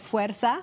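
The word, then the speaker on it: fuerza: book yes a book for women is called fera which means strength that's spelled f e r Za a if you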